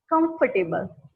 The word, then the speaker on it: comfortable: We pronounce it comfortable, but it's not neither comfortable, not comfortable. It's comfortable. Here the OR is silent and the A after T is also silent. So we pronounce it as comfortable.